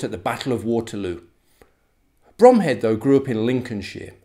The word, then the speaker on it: Bromhead: his right hand man lieutenant gonville bromhead which is actually pronounced brumhead he was the man